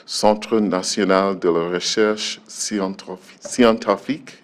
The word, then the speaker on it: Scientifique: She's a senior researcher at the Centre National de la Recherche Scientifique. Is that how you pronounce? Scientifique, yeah. Scientifique.